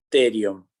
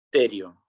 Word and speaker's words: pterion: Ese punto de encuentro que estoy señalando yo se llama terion. Se escribe con P, terion.